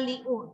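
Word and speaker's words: 六: Ini bukan bacanya liu, tapi bacanya kayak mana?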